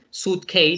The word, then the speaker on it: suitcase: pero en este caso este suitcase se pronuncia de una manera diferente, no como suite de habitación, sino suit como de vestido. Entonces decimos suitcase. De nuevo, es el maletín.